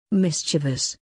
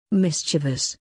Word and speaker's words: mischievous: wrong don't be one of them it's correct pronunciation is mischievous mischievous mischievous that's all for today never mispronounce your words